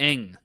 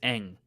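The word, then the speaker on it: Bosco Ng: Um, I just looked up how to pronounce this, by the way, and it's Big Gamma. Eng. Oh, Bosco gotcha. Eng. The NG is Eng.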